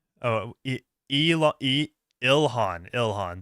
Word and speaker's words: Ilhan: Uh Elon or Elon, no, is that her name? Oh, El Ilhan. Ilhan, that's the way you pronounce it.